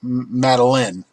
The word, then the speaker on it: Madeleine: I can't pronounce it. It's French. It's Madeleine. Madeleine.